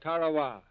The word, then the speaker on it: Tarawa: coast ladies and gentlemen there's a tiny island in the mid Pacific called Tarawa that pronunciation incidentally is from the National Geographic society that Island will never